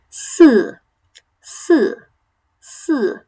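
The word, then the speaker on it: 四: So it's not si or sir, really. Si.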